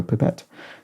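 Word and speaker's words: pipette: spelled pip tte and pronounced as if it is a little Pip rather than a little pipe so pipet um and there you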